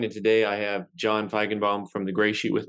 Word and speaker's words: Feigenbaum: close super close it's I go by feigenbaum but it's oh bound nice you got like the old original German pronunciation correct right right like